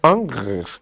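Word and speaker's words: Ingres: ou Ingris, a gente pode chamar de Ingris, mas a pronuncia seria Angris, quase não sai.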